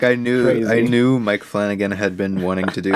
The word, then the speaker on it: Flanagan: 16th we watched mike flunagoon's uh hush why can't you just say his name is flanagan it's mike flanagan yes because mike flunagoon